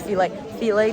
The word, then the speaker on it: Philae: It's Philae Temple, for which we have to go on a ferry. And also remember, there's a student discount, so get your student IDs. So this is the Philae Temple, and it's pretty astounding.